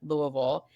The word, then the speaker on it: Louisville: I can tell that you're there because you pronounce it properly, Louisville.